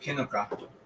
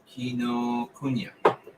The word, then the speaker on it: Kinokuniya: I bought this at Kinoka. No, not Kinoka. How do you pronounce this? Kinokuniya.